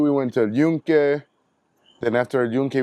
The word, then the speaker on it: El Yunque: Yes, like, El Yunque. Is that how you say it? yeah, El Yunque.